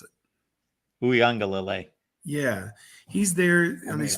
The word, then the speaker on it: Uiagalelei: Somebody pronounce it. Uiagalelei.